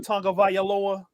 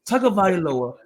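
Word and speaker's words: Tagovailoa: Why does it sound with an N, but it's spelled with no N? It's Tonga Vailoa, but when you pronounce it, it's Tonga Vailoa.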